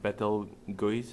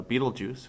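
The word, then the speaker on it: Betelgeuse: the one that uh looks like it's might be pronounced bethel goes is uh beetlejuice which you've probably heard from uh before um antares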